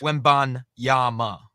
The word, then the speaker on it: Wembanyama: So is it Wembanyama with an M? So not an N at the end. It's an M. Right. Correct. Wembanyama.